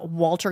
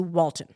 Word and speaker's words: Walton: recently learned that um Walter goggin it's not his name wal it's Walton you've been calling him